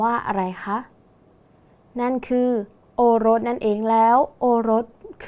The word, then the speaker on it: โอรส: กัน อีก ครั้ง นะ คะ โอรส อ่าน ว่า โอรส ดู ครั้ง แรก ก่อน นะ คะ คำ ว่า โอ้ ไม่ มี ตัว สะกด ดัง นั้น อยู่ ใน แม่ ก กา